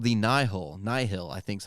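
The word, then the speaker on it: Nihil: up against this new villain called the nihol nyhil i think is how you pronounce it they're basically star wars vikings and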